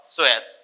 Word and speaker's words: psoas: them as ilios OS the p is silent on the Swiss right so we call them as P so s or so as p is a silent